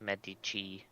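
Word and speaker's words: Medici: been corrected by Dan it's pronounced Medi Med Italian Paton of the Arts family the medii I wait I know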